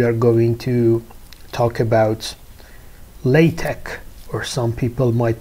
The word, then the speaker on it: LaTeX: in this week we are going to talk about LaTeX, or some people might pronounce it LaTeX, or some people even might read it as you see here, LaTeX.